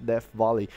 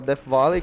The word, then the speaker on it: Death Valley: Eu acho que pronunciei certo, quando tem TH aí, tá, equivale ao som de F, Death Valley.